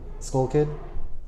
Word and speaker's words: TSkullkid: Like TSkullkid Yeah. Or yeah, with the silent T. with the Thailand C. With a silent C. Silent T, yeah.